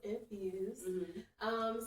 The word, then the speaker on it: NFSD: No vowels, but it is still pronounced Infused.